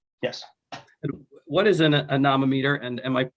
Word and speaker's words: anemometer: And what is an anemometer, and am I pronouncing it correctly?